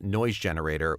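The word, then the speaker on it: GNoise Generator: And you can find me on social media as Noise Generator with a silent G at the front.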